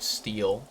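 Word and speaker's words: stele: So, now we learned how to pronounce the word steel, even though it's spelled completely totally incorrect.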